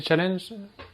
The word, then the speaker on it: Challenge: eu personne de chez Challenge, ça dépend si tu le prononces à la française ou non. Voilà, Challenge. En Belgique on dit plutôt challenge, mais bref, on se comprendra.